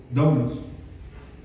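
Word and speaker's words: δοῦλος: esclavo es comprado la palabra que se usa es doulos d o u l o con acento en la u doulos Eso significa esclavo la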